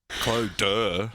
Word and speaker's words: Clodagh: I just need to cut it off and try and phonetically spell Clodagh, which it's not how it looks with a glorious Clodagh. How would you do that? Clodagh, like... Duh. Yeah, like D-U-H?